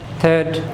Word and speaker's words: third: থার্ড, এখানে খেয়াল করুন আর এর পরে আছে ডি অর্থাৎ কনসোনেন্ট, সুতরাং আরটা উচ্চারণ হবে না।